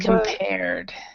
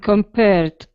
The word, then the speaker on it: compared: it to house arrest would be a D sound so that the the E on both of these are not not pronounced okay so abolished and compared yes abolished and compared Perfect all right and